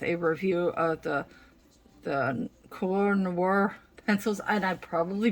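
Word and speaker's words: Koh-i-Noor: of combined with a review of the the core noir pencils and i probably butchered that name it's k o h i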